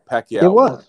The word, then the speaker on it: Pacquiao: all suspect right you just said it right Pacquiao so at the end of the day Crawford